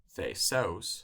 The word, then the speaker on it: Θησεύς: Thesos sounds like Theseus.